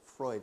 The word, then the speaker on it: Freud: times yeah sigmund sigmund freud is freud is how you say his name right and sigmund freud is